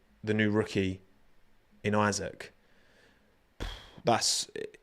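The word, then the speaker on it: Isack: Um, and he's Yeah, he pronounced his own name as Isaac. Isaac. So, yeah. No, it's it's definitely it's definitely Isaac.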